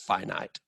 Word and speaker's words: finite: I know that, I know that this is pronounced infinite, but this is pronounced finite. So two long I sounds, no long I sounds, but I digress.